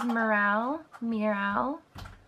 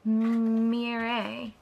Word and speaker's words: Miral: This is Miral, which is really pretty as well. Or it's actually pronounced Mire. So never mind, this is pronounced Mire.